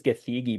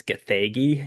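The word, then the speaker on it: Gathegi: And Eddie Gagi, I thought it was Giggy, but looking it up online how you pronounce it, I think it's Gagi.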